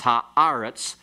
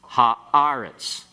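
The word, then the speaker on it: הָאָרֶץ: So eretz, earth, becomes haaretz, the earth. Okay, pronounce this word. Haaretz, haaretz. What's the one without the article? Eretz. And what's the one with the article? Haaretz. And notice the accent. It's accented.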